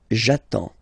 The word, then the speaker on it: j'attends: So the first form will be j'attends. J'attends. Okay, you get D and S, well basically you don't pronounce them, okay, and then you get only the sound attends, nasal here, en, j'attends, okay.